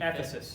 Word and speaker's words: Ephesus: Ephesus.